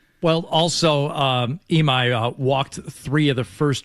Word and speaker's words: Imai: Uh Imai is his last name.